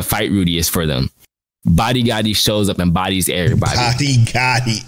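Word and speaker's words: Badi Gadi: Rudy is for them body Gotti shows up and bodies everybody stop that's his name body Gotti his name is Buddy Gotti for real b-a-d-i-g-a-d-i body that's what he said so are you serious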